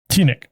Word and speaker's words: TeenNick: you don't have that in front of you it's spelled t-e-e-n-i-c-k t-nick uh and nickelodeon continues to run a saturday